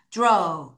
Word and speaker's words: draw: 자, 여러분 빨강이 AW 하게 되면 우리가 row, row. 자, A가 에 발음인데 에우가 아니라 row. 다시 row. 발음이 납니다. 그럼 얘를 발음해 볼게요. 어떻게 발음하냐? draw.